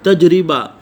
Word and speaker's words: تجربہ: سے تلفظ واضح کریں۔ تجربہ، تا کے اوپر زبر، جیم کے اوپر جزم، را کے نیچے زیر، با کے اوپر زبر اور ہا کے اوپر بھی جو ہے وہ جزم۔ تجربہ۔ عملی، عین کے اوپر